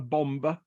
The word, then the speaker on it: bombe: right we have now I I it's called a a bomber I choose to to pronounce the e at the end uh and this was